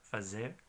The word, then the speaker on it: fazer: Y como he dicho, la palabra de hacer es como fazer, con Z, fazer.